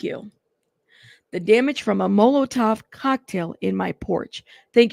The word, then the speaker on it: Molotov: Molotov. Thank you. The damage from a Molotov cocktail in my porch.